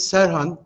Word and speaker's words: Serhan: My correct name is Serhan, but on the written page you will see instead of an H, it's a K. I will accept. You're all welcome how you pronounce it, but the correct way is with H.